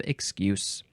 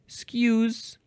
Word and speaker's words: excuse: We had excusatory, and now we have excuse. But this first form is actually excuse with a Z sound.